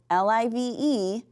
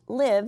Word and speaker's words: live: Now remember, they're spelled the same way, L-I-V-E, but one's pronounced live and one's pronounced live.